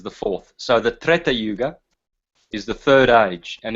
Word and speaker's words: Yuga: second AG is dapar Yuga I'll write that down and that is the um Bronze Age and so um Satya Yuga or yug it's actually it's actually pronounced yug um and then yeah